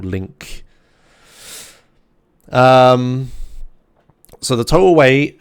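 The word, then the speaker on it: LINQ: with this yeah I'm I'm saying it wrong link Q I know it's Lin Q right or link um so the total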